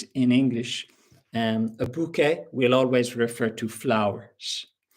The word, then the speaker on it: bouquet: But um if they are arranged in a particular way, we will say a bouquet. So you can pronounce it basically the same as in French.